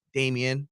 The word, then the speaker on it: Damien: Dame, yeah, I guess because Damien is 2 syllables, so it's Damien, and Dame is just 3 syllables. Right. Damien. Damien. Right. Damien, yeah. And Dame is just 1.